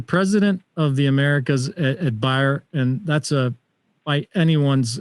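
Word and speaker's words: Bayer: the americas at well i think we pronounce it bear but you would say buyer excellent yes yes you're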